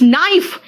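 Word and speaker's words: knife: next आओ के कहां का साइलेंट है, देखो तो इट्स नाइफ, नाइफ कहा का, नाइफ नहीं कहा है, देखो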